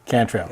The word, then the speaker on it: Cantrell: us today a photographer veteran Navy veteran can throw and did I pronounce it right yeah that's close there is a close I've been called worse well tell me how is the net Kentrell Cantrell okay I remember there was all the in